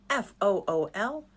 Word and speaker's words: fool: FOOL and FULL. They look so easy, but they're kind of tricky. FOOL. Fool. Fool. The OO digraph makes ooh.